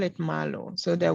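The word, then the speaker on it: Marlowe: So I think that the Cardano team, they call it Malo. So the Y, the E at the end is silent, I think.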